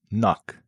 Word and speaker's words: knock: Let's start with the silent K, which shows up in words like knife, knee, knock, no. You don't say the K but is there front and center.